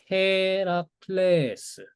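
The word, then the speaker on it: Ἡρακλῆς: 그다음에 헤라클레스. 헤라클레스. 오케. 헤라클레스. 우리가 아는 헤라클래스입니다. 그래서 원래 발음은 헤라클레스가 아니라 헤라클레스 이렇게 되는 거예.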